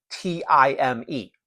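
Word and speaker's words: τιμή: There was a cultural concept in ancient Greece called time, spelled in English T-I-M-E, pronounced time.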